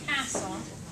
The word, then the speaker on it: castle: So when we mark it, we have castle.